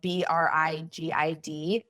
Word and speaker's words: Brigid: Being, and then my name is spelled Brigid, like rigid with a B at the front of it.